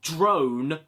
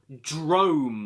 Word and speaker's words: Drome: anybody here remember yeah not drone Drome I don't remember these